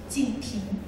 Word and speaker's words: Jinping: It's very difficult to pronounce for foreigners. So his first name is Jinping.